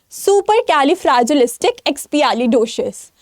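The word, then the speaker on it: supercalifragilisticexpialidocious: Comment section में बताना क्योंकि आज मैं तुम्हें ये वर्ड प्रोनाउंस करना सिखाने वाली हूं। ठीक है? तो द वर्ड इज़ सुपर कैलफ्रेजिलिस्टिक एक्सपियालिडोशियस।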